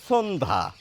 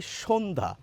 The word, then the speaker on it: সন্ধ্যা: কি বলছি বলুন তো আমরা লিখছি দন্তস বলছি তালব্য স কিরকম দন্তস এর উচ্চারণ হচ্ছে কি রকম বলুন তো স অর্থাৎ এটিকে যদি দন্তস এর উচ্চারণ আনি তাহলে শোনতে লাগবে এরকম সন্ধ্যা সন্ধ্যা প্রমিত বাংলায় এরকম